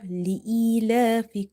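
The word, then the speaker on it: لإيلاف: Lam kasrah hamzah ya kasrah ee, li'ee. If you see if you see there is the same pattern which we have observed here. Ya itself is sakinah. And before ya sakin, you have kasrah. It means that this ya is maddah here.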